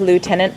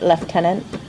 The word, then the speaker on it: Lieutenant: yes schedule schedule or instead of Lieutenant left tenant I never noticed that